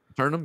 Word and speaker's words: Aeternum: Aeternum? Aeternum, but they spell it with the A and the E. That always gets me.